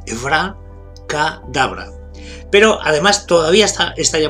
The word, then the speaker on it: abracadabra: Lo primero es que lo pronunciamos mal porque lo pronunciamos en castellano. Y son dos palabras que son de origen hebreo y una de origen arameo. Por tanto, hay que pronunciarlo en hebreo-arameo. Sería Evra, con acento en la A, Evra Kadabra.